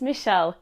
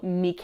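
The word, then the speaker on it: Michele: My name is Michelle. That's Michelle with one L or Mik if you want to pronounce it the Italian way.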